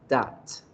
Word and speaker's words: dot: Se escriben do con o, pero se pronuncian con una a, dot.